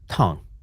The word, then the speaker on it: Tang: And is it Tang Empire or is it Tong Empire? Tong. Tong. Okay. Tong.